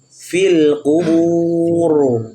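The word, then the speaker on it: القبور: huruf r yang tafhim cara membacanya fil qubur coba fil qubur fil kuburbur Jangan tipis ya jangan Fil kuburbur nah fil kubur filbur nah tebalkan rnya jangan R jangan Ra tapi roh kemudian ayat ke10 berikutnya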